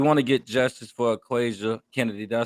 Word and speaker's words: Aquazia Kennedy: We want to get justice for Aquazia Kennedy. Did I say her name correctly? Yes, Aquazia Kennedy.